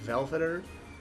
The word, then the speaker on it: Valfodr: Uh, the final battle here is going to be Velveter. That's how you say his name.